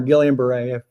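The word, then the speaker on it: Guillain-Barré: to butcher this but gon Beret syndrome that's how I pronounce it guon or gilan Beret you depend on what you're from and I'm finding um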